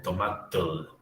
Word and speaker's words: tomatl: Fijaos que hay un cierto parecido entre el náhuatl y aquí esto se pronuncia como tomatl, chocolatl.